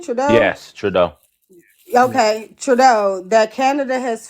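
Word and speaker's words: Trudeau: that how you say his name trau yes trau okay trau that Canada has failed the US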